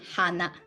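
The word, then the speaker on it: はな: So when you look at this word, you can, without any worries, you can just pronounce it with hana, usual ha.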